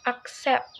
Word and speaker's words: accept: it between not between accept in this word the stress is on the second syllable SE so it's accept not accept against lastly in